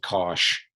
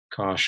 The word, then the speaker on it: cosh: x uh this one the hyperbolic cosine cosh cosh of x you just kind of read it gosh tanch that's how people